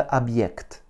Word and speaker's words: объект: знак, Y, K, T, avec un accent tonique sur le Y. Donc le O va se prononcer comme un A.